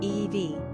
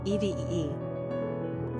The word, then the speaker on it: Evie: Pronunciation, EEV, EVEE.